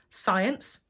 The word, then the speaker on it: science: in so for example science as a silent C okay brilliant now it's